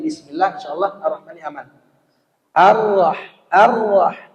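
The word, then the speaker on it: الرحمن: Ar-Rah, bukan au. Yang membaca Ar-Rahmanir-Rahim, au itu salah. Bacanya Ar-Rah, yang tebal itu ra. Ar-Rahmanir-Rahim, bukan Nir-Rahim.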